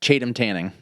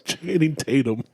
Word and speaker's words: Channing Tatum: Well, it's Chatham Tanning. Or Chatham, whatever the fuck his name is. Channing Tatum.